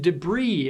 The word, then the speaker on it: debris: The S in debris is silent, but the S in hubris is not.